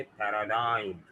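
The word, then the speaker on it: paradigm: कैसे मिलेगी, है ना, तो जी साइलेंट जो है वो आई की साउंड को चेंज कर रहा है, वो बना रहा है इसे पैराडाइम।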